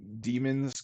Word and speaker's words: daemon: that's a bad reason I think it's meant to be pronounced demon okay I'll just start